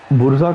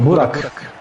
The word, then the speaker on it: Burak: And Burzak, did I say it right? No, Burak.